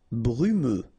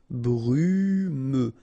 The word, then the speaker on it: brumeux: Brumeux. Okay, final X not pronounced, so you get this E and then U. Brumeux.